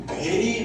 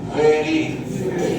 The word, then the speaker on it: very: উপরে ঠোঁটটা উঁচু করো, উপরে ঠোঁটটাকে উঁচু করে ধরো, এরকম ভাবে ধরে করো। ভেরি ভেরি ভেরি ভেরি, বুঝতে পেরেছি ব্যাপারটা?